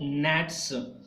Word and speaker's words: gnats: Then in wailful quail, the small gnats moan. Gnats. Here, G is silent here. That is gnats, and they keep mourning in a wailful.